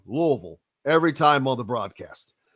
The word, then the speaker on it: Louisville: if if you live there you're supposed to pronounce it Louisville little fun little inside bit whenever I'm recording commercials uh for Louisville specifically they asked me to pronounce it Louisville they don't want me to say it any